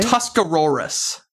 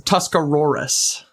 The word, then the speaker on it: Tuscarawas: So, it's Tuscarorus. You're going to hear me like R a R. I know. Even though it's R. It's Tuscarorus. Tuscarorus County.